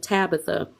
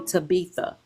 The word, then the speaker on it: Tabitha: even my name of Tabitha individuals School teachers would refuse to pronounce my name correctly they would call my name they would call me taba but do you think